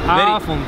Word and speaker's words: avond: Avond. Avond. Yeah, really difficult. Avond.